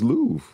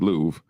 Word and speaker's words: Louvre: I think it's Louvre. I think the R is silent.